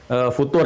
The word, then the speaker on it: futur: Apa yang disebut dengan future itu ya yang sudah pernah kita bahas bukan future tapi future jadi itu nggak usah di Inggris inggris-in future Jadi enggak usah bacanya future ya future ya kalau sedang